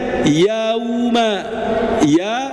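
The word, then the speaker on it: يوم: Nah, di sini Bapak kita harus memanyunkan bibir karena bertemu dengan wawu ya. Ah, maka dibacanya yauma yauma. Ustaz, gimana kalau misalkan tidak dimanyunkan? Kalau tidak dimanyunkan, maka bunyinya tidak akan sempurna. Kalau tidak sempurna itu akan menjurus ke o.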